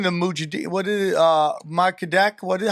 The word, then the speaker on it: Mossadegh: Makadek? How do you pronounce his name? Mossadegh. Mossadegh.